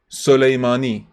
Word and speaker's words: Soleimani: first say it awesome Sam not girls awesome Soleimani say it awesome Ava that's it that's you